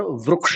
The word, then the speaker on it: वृक्ष: हां हां रुक्ष तो इसका उच्चारण संस्कृत में रिक का उच्चारण अपने को रिक करना पड़ेगा और वृक्ष का उच्चारण उ जैसा करना पड़ेगा।